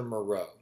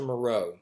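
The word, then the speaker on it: Moreau: island of do Maro the island of Dr Maro and that's spelled m o r r e auau and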